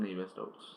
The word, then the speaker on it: Navier-Stokes: It's pronounced Navier-Stokes, and it's kind of quite confusing.